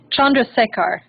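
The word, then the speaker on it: Chandrasekhar: Chandra Chandra sakar shakar okay thank you fabulous Chandra sekhar yeah Sidecar somebody should type it in the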